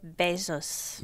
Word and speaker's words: Bezos: Jeff Bezos. Bueno, como besos. ¿Has visto? Como besos así como de abeja.